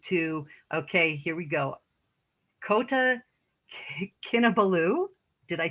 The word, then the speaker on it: Kota Kinabalu: After graduation, she moved to, okay, here we go, Kota Kinabalu.